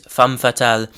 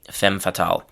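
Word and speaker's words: femme fatale: So the French pronunciation is fam fatal. In English we usually say fem fatal.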